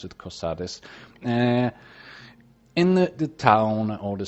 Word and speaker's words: Cosades: a package and a letter to caius cosades cosadas cosades i'm going to pronounce it cosades in the town or the city of balmora